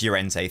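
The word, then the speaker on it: Llorente: It's a nice lofted ball away from uh Lorente. Is it Lorente or Urente? Is it a double L? In which case, it should be pronounced Y.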